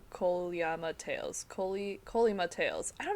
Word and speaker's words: Kolyma: Yeah, I mean, it is, but the E is not stressed, so it's... No, yeah. It's hard to do as an American, because American English, we naturally put stress on the second syllable, and that's not what it is.